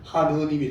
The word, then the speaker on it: 하느님: 그래서 하늘님 이게 리얼 탈락이 돼가지고 발음이 하느님이 되네요.